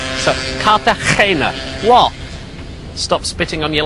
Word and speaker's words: Cartagena: It's actually spelt with a G, but you've got to pronounce it G. So, Cartagena.